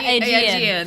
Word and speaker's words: Aegean: southern Italy, and the Aegean Islands. I'm not sure if that's how you say it. but- Aegean? Yeah, Aegean. That Yeah. sounds right. Yeah, that sounds right. Aegean Islands.